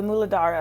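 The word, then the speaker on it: Mūlādhāra: the root chakra uh the muladhara i believe is the way sanskrit pronounces it i could be wrong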